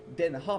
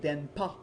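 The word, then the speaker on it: 電波: Donc, le mot finalement se prononce pas denha, mais bien denpa, qui veut dire finalement une onde radio, les radio wave en anglais, une onde radio.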